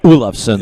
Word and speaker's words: Olofsson: He knows it's Olafsson. Yes. That's the proper pronunciation for the Nordics. Yeah. So it's Andreas Olafsson from Yes.